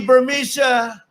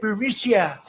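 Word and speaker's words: Burisma: alleged meeting with the burmesa executives so this uh burmesia bermusia they say pronounce it burisia a real beautiful company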